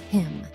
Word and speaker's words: hymn: Here are some examples of words that have a silent N. Condemn, autumn, solemn, damn, hymn. Did you notice how the N is not pronounced in any of these words?